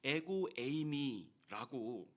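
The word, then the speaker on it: ἐγώ εἰμι: 어 에고에이미라고 읽는데요.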